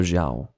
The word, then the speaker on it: Xiao: wrong way you know the X is not pronounced or anything like that it's something totally different in Chinese and quite frankly I'd prefer Xiao okay what's the plan